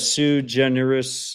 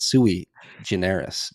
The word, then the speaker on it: sui generis: And then I see we have Sue Generous John.